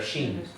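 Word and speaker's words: ש: A dot on the right is the right way to pronounce a letter, sheen. The letter sheen is a sh sound, as in shalom. So the moment you move the dot to the left, it changes it from an SH to an S.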